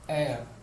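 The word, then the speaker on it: heir: അവർ എന്ന് പറയുമ്പോൾ അതിന്റെ ഉച്ചാരണം എന്താണ്? വവൽ സൗണ്ടാണ്. അതുപോലെ തന്നെ ഹോണസ്റ്റ് എന്ന് പറയും, ഓണസ്റ്റ് എന്ന് പറയുമ്പോൾ അതുപോലെ എയർ എന്നാണ് ഇതിന്റെ പ്രൊണൗൺസിയേഷൻ വരുന്നത്.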